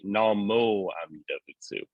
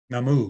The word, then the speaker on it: Namu: the Eastern Hong gonji they pronounce the nimbutsu slightly differently we actually say Namo yeah but they use the older namu uh yeah I've done